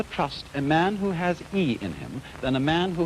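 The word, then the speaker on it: 義: call not law but justice this word is pronounced e i and justice in this sense corresponds rather to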